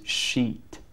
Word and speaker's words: sheet: on the screen to to tell people the pronunciation is extremely important here, and it is sheet.